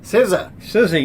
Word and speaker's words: SZA: SZA, you know how to say it now. I do. Not SZA.